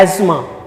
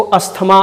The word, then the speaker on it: asthma: लोगों ने कर लिया, बट the right pronunciation is एज्मा। क्या है? एज्मा, नॉट अस्थमा, हम लोगों ने उसका हिंदीकरण कर लिया।